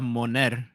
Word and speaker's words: Moner: I know that Isabella Merrced's original last name was Isabella Monet. People say Moner Moner. I say Monet. I say her name is Isabella Monet.